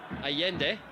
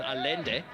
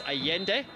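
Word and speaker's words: Allende: interesting to see it's it's hio Costa and aende and those are in fact the correct pronunciations of those two players names in case you're wondering why I'm not saying Ribera Costa and alende it is aende and hio Costa that is how you pronounce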